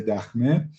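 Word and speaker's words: دخمه: It's called Tower of Silence, but in Persian we call it dakhme. Pronouncing khe is really hard for English people, so or we can say dakhme, but in Persian we say dakhme.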